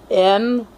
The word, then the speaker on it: Noel: And he spells it N-O-E-L. He spells his name N-O-E-L, but it's pronounced Noel.